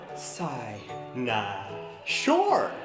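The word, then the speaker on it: cynosure: punch I'm half Persian sinus pronounced like psy nah sure it's a noun which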